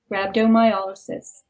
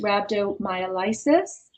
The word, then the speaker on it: rhabdomyolysis: a state called rhabdo rhabdomyolysis it's often incorrectly pronounced rhabdomyolysis but when you look at the structure of the word it's YS is like paralysis and not like crisis is is but it